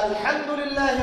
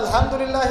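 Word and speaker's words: الحمد لله: বলছেন for example যে আলহামদুলিল্লাহি রাব্বিল আলামিন, অর্থ সুন্দর সমস্ত প্রশংসা আল্লাহর জন্য যিনি বিশ্বজাহানের প্রতিপালক। হায়ের উচ্চারণ ভুল করেছেন, বলেছেন আলহামদুলিল্লাহি রাব্বিল আলামিন, অর্থ বিকৃত হয়ে গেছে, অর্থ হচ্ছে সমস্ত নিন্দা বিশ্বজাহানের প্রতিপালক আল্লাহর জন্য, নাউযুবিল্লাহ।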